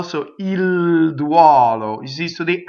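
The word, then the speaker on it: duolo: Whenever you have a UO, usually it's open. So it's duɔlo. So notice the stressed O is open. The unstressed, we know all the unstressed are closed. So it's open O, closed O.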